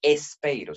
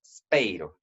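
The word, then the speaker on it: σπείρω: No espeiro, sino speiro. Por ser latino, sí tiendo a pronunciar una vocal antes de la sigma, todo el tiempo, ¿no?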